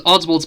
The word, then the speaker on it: Oswald: It was Oddsworld's personal policy.